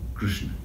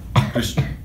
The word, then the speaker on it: Krishna: The real pronunciation is one syllable. K-R-S-N, Krishna. K-R-S-N. Krishna, that's the name.